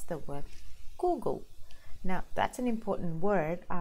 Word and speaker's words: Google: da da da da Google so the pronunciation and the syllable stress is on the second part of the word goo go so that's